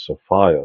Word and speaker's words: Sophia: And some people pronounce that as Sophia so that it rhymes with Gaia, and you can combine the words and say Gaia Sophia, like a two-part name.